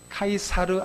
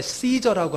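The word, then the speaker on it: Caesar: 자, 가이사 아구스도는요, 카이사르 아우구스투스라는 말이에요. 누굽니까? 로마의 초대 황제입니다. 우리가 이제 시저라고 하잖아요. 시저는 이제 영어식 발음이고 그들의 발음은 카이사르예요.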